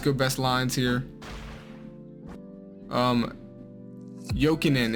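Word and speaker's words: Jokinen: best lines here um joking in is how you say that by the way not joking joking koslov that's our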